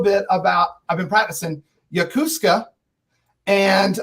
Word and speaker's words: Yokosuka: I've been practicing Yakuska and how you guys met and how you got into RVing and into YouTube. Well, you said it right. Yokosuka, Japan is where we met.